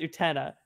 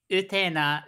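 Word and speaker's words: Utena: myself on blast year I always thought it was pronounced or Teta that's what I thought I'm here to say it's you Tina is how it's pronounced in Japanese so you can say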